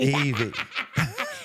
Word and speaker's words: Ivy: It's spelled Ivy. Yes, yes. But it's Ivy. Evie. Exactly.